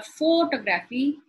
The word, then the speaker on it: photography: Now, these particular suffixes are like a code for you to recognize that the stress would go on the second syllable. Photography. If I say photography or photography, the pronunciation changes. So it is photography.